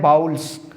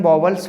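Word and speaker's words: vowels: बहुत से स्टूडेंट इसका प्रोनाउंसिएशन गलत करते हैं और बोलते हैं बाउल्स, जबकि इसे हम वॉवल्स बोलते हैं।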